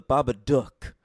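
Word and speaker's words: The Babadook: is happy Christmas and I prefer the proper pronunciation the Baba duck because it's supposed to rhyme with [ __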